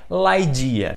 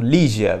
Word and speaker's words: Ligeia: Allan Poe dia sim a pronúncia correta desse conto em inglês no original é laidia mas como escreve dessa forma parecendo Lígia vamos falar de Lígia